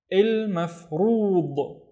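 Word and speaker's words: المفروض: The first syllable is il, and then maf, and then rood. Il mafrood.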